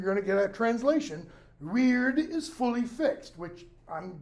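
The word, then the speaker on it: wyrd: Belief in, reliance on, trust in, this notion of weird. Weird, as it's pronounced. Not modern English, weird.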